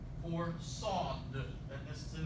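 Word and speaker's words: صاد: For sod. This is the name of the letter. The sound it makes is this S in C, saw, or this S in saw.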